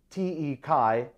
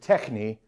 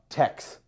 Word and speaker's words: TeX: to be an x rather because this t t e chi is the abbreviation of the greek word techni spelled tau epsilon chi nu eta which is